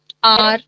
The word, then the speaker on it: hour: Because all in all these words the H is silent.